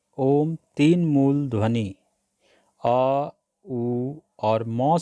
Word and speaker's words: ॐ: चक्र पर होता है इसलिए जो भी आ उ और म से ॐ का उच्चारण करते हैं वह गलत करते हैं तो फिर आप पूछेंगे कि ॐ का सही उच्चारण क्या है मैं आपको बताना चाहता हूं कि ॐ के उच्चारण का मूल अक्षर है जी हां आपने सही सुना सिर्फ आ है और अगर आप और को सही तरह से उच्चारण करेंगे तो यही ॐ की ध्वनि बन जाएगी में सर्वप्रथम आप सांस